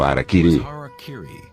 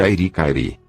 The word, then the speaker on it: Harakiri: Na tradição samurai, uma das formas de suicídio ritual, ou seppuku era o Harakiri, frequentemente pronunciado erroneamente de Airi-Kairi.